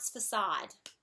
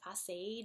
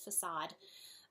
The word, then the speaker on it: facade: different fronts of buildings the word that in English we just print out facade nah I think I've heard people say phosphate or something like that it's just a facade I think that's pretty much from the French another word now I'm